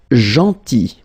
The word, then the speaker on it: gentil: Then, gentil. So remember this final L is not pronounced.